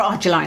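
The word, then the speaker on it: Argireline: peptides, a Trixel 10%, or the aduraline solution, or argiline as it can be pronounced.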